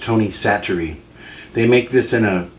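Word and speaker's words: Tony Chachere: I've heard it's pronounced Tony Satchery.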